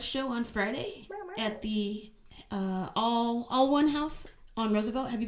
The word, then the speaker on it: Alwun: It's spelled weird. It's spelled like ALWUN. So all one, like, but we're all one community. So they are being clever with it.